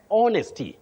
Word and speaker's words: honesty: Honesty, not honesty. That H is silent.